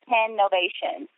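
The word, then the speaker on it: TENovation: me and you know it's one zero n-o-v-a-t-i-o-n and it's pronounced 10 Novation it's actually like company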